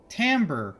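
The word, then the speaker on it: timbre: musical terms thrown around things like tamber which is pronounced timber in the series because whoever was doing the voice acting wasn't aware of how to pronounce it or Rune and so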